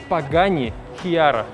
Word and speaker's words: Pagani Huayra: Позади вас стоит PGI Kara. Ну, пишется немножко по-другому, но произносится именно так, причём в версии White Edition.